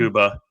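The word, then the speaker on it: Mukuba: Makuba.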